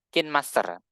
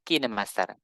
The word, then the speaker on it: KineMaster: mengenal aplikasi kinemaster dulu biasanya saya bacanya atau mengucapkan dengan bacan Kin Master tapi ternyata kalau misalkan kita lihat para editor yang membahas tentang aplikasi ini mereka membacanya sebagai kinemaster nah aplikasi ini memang